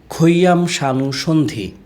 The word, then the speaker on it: Khayam Sanu Sandhi: My father put this spelling for me, but it pronounced in Bangla, Khayam Sanu Sandhi.